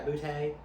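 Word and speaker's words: Boutte: Yeah, Butte. You Look say it at like Butte. a Cajun. You gotta say it like a Cajun.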